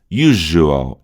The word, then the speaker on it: usual: Então o S vai virar Z, né? Vai ser o símbolo fonético Z, tá? E aqui a gente tem de novo J, a acentuação mais forte aqui, da sílaba mais forte, U, e aqui a gente tem um prolongamento, aqui é um U, é uma vogal longa.